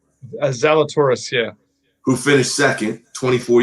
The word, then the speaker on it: Zalatoris: Am I pronouncing that correct? Zalatoris, yeah.